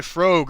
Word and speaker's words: Frogue: Also, by the way, his name is pronounced like rogue with Okay, Frogue.